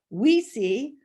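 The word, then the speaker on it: Oui Si: i love their name we french for yes and c spanish or italian for yes pronounced we see meaning yes yes i really like that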